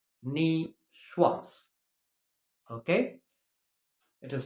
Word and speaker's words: niçoise: Nicoise. You'll see it in certain restaurants. Nicoise, but please keep it in mind, it is pronounced niçoise. Okay? It is pronounced niçoise.